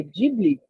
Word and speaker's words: Ghibli: A própria Sato agora trouxe eu nem sabia, Vitor, é Ghibli que se pronuncia.